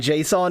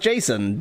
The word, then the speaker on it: JSON: And JSON is pronounced Jason. Definitely not pronounced JSON, but I pronounce it wrong 100% of the time.